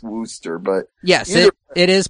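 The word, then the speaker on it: Worcester: getting it wrong because it's like when you see WC out in New England you don't think it's Wooster so it's probably Glouster just like it's Wooster but yes it is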